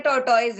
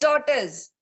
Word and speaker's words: tortoise: ये हमें लगता है, हम बचपन से हमने ये पढ़ा है, हम सभी को लगता है टॉर्टोइज है, बट टॉर्टोइज नहीं होता है। इट्स टॉर्टस।